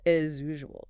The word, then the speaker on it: as usual: The S in as is pronounced like a Z. When it hits usual, they blend. It becomes as usual, as usual.